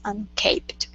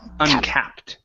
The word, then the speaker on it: uncapped: the earning potential is unced okay and that last word is uncapped instead of unced uncapped uncapped yeah if uh if there was only one p then that would be unced Cape okay okay all